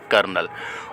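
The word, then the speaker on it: colonel: एल तो सीओ एल ओ एन ई एल कर्नल और third वाली स्पेलिंग है ग्रामर तो ग्रामर में दोनों जगह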